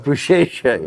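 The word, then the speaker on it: Beşiktaş: It's actually pronounced Boucher. What is it? Bouchecha? Bouchecha, yes.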